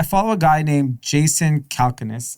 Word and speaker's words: Calacanis: a guy named jason calconis i believe how you pronounce his name calacanis calacanis uh he does a podcast